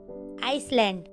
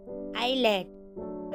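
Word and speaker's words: island: For example आइसलैंड आइलैंड आइलैंड। तो इसे हमें आइसलैंड नहीं पढ़ना। तो इसे हमें आइलैंड पढ़ना है। तो यहां पर एस साइलेंट है।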